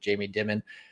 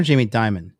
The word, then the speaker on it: Jamie Dimon: headquarters having meetings with jamie dimon uh as he's talking to bitcoin and stuff and it's just like you know crazy but um damien or jamie diamond it's pronounced both ways i've heard both presidents